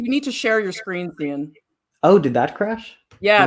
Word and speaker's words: Cian: Okay, so first of all, it rhymes with Ian. It's pronounced Cian. The name Ian.